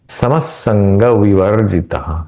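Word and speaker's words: समः संगविवर्जितः: ঠিক আছে समः संगवर्जितः समसंग स का द्वित्व उच्चारण करना है समसंग विवर्जितः संग ये न जो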